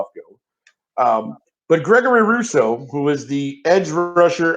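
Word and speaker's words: Rousseau: correct spelling uh sean it's r-o-u-s-s-e-a-u okay it's pronounced like which i must be maybe it's french you know that russo all right if you're watching i'm very sorry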